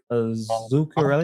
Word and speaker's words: Zuccarelli: When you first started to talk about your mentor, I think his name was Frank Zuccarelli. Am I Correct. pronouncing that correct? Mhm.